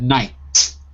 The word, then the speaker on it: knight: A knight. Knight. Good. And you can see the spelling in the chat window, in the Verbling chat. K-N-I-T, but the K is silent.